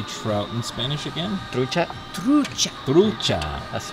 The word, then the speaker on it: trucha: Trucha. Trucha. Trucha. That's not yes. Truca. Okay. Trucha. Trucha. Trucha. Trucha. Because the CH is like ch.